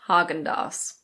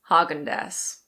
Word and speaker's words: Häagen-Dazs: This is pronounced Häagen-Dazs. Some people also say Häagen-Dazs.